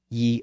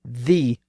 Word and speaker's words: ye: But as I've noted in prior episodes, that Y-E is really just the word the. It's simply an alternate spelling, so it should be pronounced the old bookshop.